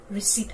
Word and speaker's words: receipt: akoina mispronounced to we ko so the correct pronunciation of this word is receipt hyduna adagidi sida dere ko sigi word sina